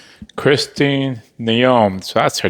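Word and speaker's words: Noem: Christine Naom, so that's her name.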